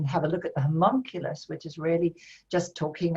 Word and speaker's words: homunculus: This how do you pronounce the Oimalculus? homunculus, homunculus.